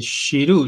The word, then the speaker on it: Giroud: Yo tuve Y 3 clases de francés, así que sé que la D ah, no se pronuncia, la D final no se pronuncia y la G es como una Y, así que claro.